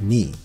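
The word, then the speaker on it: 二: In Japanese, the character for the number 2 is pronounced ni.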